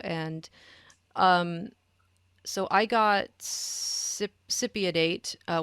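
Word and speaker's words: cypionate: um so i got sipidate uh which i always want to pronounce cyprianate because the cyprian is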